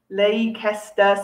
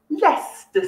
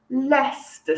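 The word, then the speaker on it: Leicester: which many students mispronounce it is not lei kester square which is what many students say it is actually less the square lester square now that is very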